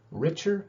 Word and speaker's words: Richard: bit later but uh my name is richard so that pronunciation is richer you can just call me mr richard if you want that